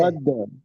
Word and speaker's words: أحد: হ্যাঁ শহীদ ভাই, আপনি ওই যে আহাদ দালের যে কলকলা, দালের জি। কলকলাটা একটু নিচের দিকে যাবে। আহাদে, আহাদে। أحد، أحد.